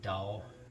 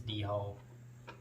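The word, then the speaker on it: dhole: d whole dog which i think you pronounce it dull but it looks like it says d-hall and basically what that is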